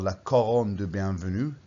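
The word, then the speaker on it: la couronne de bienvenue: looks a bit like that perhaps it's called la coron du bienvenue the christmas wreath and that's how you pronounce it in french like okay the whole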